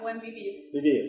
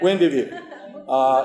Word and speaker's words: Buen Vivir: Yeah, is it Buen Vivir? Yeah, Buen Vivir. Vivir. Yeah. Buen Vivir. Is it living well? Yeah. It's living well, right? Yeah, living well. Buen Vivir.